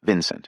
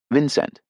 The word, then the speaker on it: Vincent: The second syllable given equal weight with the first by the heavy accent of the elder members, not swallowed, rhyming with went.